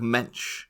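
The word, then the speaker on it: Moench: been created by and I found out how you pronounce this guy's name because remember we kept bringing him up last season oh yeah it's Doug mench mench did a lot of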